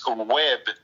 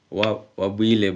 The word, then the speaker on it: Webb: Um, you know, we pronounce your name uh Webb, but um that's not how you pronounce your name, is it? No, no, no. Actually, my my name is Wab.